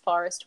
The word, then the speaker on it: Phorest: So if you're searching for Phorest on social media, YouTube, Google, whatever you're doing, it's Phorest with a PH so that you don't end up looking at photos of pine forest.